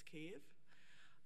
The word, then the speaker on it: Kyiv: have fought for because in ukrainian it's cave but in russian it's kiev which is spelled as